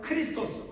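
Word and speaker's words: Χριστός: 그리스도는 영어식 발음이죠. 헬라오로는 크리스토스 바로 그 의미는 구원주 구세주라고 하는 그 의미죠.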